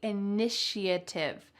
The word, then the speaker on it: initiative: take the inative notice that there's a sh sound in the middle even though there's no s take the initiative take the initiative what